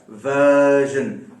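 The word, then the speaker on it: version: तो आर को कभी आप बोले नहीं, उसको खींचे जरूर आप। इसी हिसाब से मैंने खींचा, वर्जन, वर्जन, ठीक है ना।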